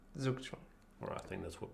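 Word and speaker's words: Zugzwang: How is the correct German? Tukong. Tukang. And you say in English you say zuk. Zukong.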